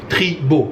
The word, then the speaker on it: Treebo: Je suis dans un établissement qui s'appelle Treebo South Avenue. Treebo, je vais le prononcer en bon français, T-R-E-E-B-O.